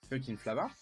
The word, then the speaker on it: Fcukin'Flava: la gamme fucking flava alors ça s'écrit pas pareil he ça s'écrit FCU CEN et plus loin flava mais ça se prononce fucking flava et puis on goûte